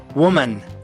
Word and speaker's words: woman: Woman.